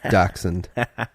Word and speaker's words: dachshund: says it's not a - hand it's a dachshund look at this spelling Josh is very very big on pronunciation I have read the dachshund the Yak